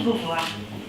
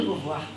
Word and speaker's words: Beauvoir: Castor à Simone de Beauvoir. Il lui donna ce surnom parce que, et ça je vais m'adresser à Christine, Beauvoir, soi-disant, en anglais, est similaire par la prononciation du castor.